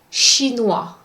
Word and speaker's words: chinois: Do not pronounce the S, T, D, X, or P at the end of a word. For instance, the second word in that column, chinois. The S is silent.